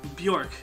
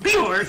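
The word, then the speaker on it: Björk: Bjork. You didn't say it right. Bjork!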